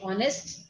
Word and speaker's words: honest: little popup coming says H is silent and many English words honest we don't say honest we say honest right and why is it so because honest has come from French and uh so the